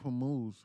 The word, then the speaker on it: Hormuz: Several vessels in the Gulf receiving messages claiming to be from Iran's navy, saying that the Strait of Hormuz, how do you say it, Hormuz or Hormuz, is still closed per shipping sources.